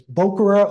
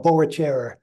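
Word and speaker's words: Boechera: And they do actually have some pretty flowers when these Boachera, I don't know actually how you pronounce it, it's Bokura or Boachera, heard both ways.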